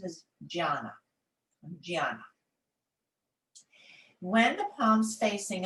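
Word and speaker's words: jnana: how alphabetical alphabetical letters are used but the pronunciation is gianna gianna when the palms facing up it is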